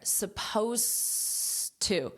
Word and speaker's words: supposed: were only supposed to notice my pronunciation here supposed to so you do not hear this Ed at all it ends on an S sound and then the next sound you hear is this T supposed to supposed to